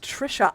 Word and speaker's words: Tricia: You call me, Tricia, pronounced Trisha.